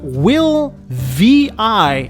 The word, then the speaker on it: WiLL Vi: have regained my composure this is a toyota will vi and yes it is pronounced this way this car was part of